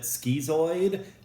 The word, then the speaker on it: schizoid: Next one, schizoid, or some people pronounce it schizoid, like orange or orange. Different ways to pronounce it.